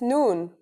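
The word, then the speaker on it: نون: That's noon. The noon is pronounced just like the English N.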